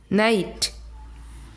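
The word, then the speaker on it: night: है, नाई, एन आई जी, नाई, एन आई नाइट।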